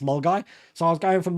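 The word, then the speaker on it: Milngavie: or it's pronounced it's spelled milavi but it's pronounced mgy so I was going from mgy walking to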